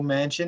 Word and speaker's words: Manchin: especially with a fully blue senate and joe manchin is how you pronounce his name is going to be probably